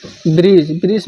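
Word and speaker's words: bridge: अब डी कब साइलेंट होता है, तो डी साइलेंट कब होता है, तो देखिए जब कभी जी से पहले डी आए तो साइलेंट होगा। जैसे ब्रिज मिस होता है पुल।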